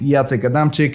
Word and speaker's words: Jacek Adamczyk: find my channel under my name which is yata kadamchik i'll spell it for you right here also you can